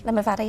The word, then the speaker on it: Limavady: Because you're from, did you pronounce it Limavady? Limavady, yeah.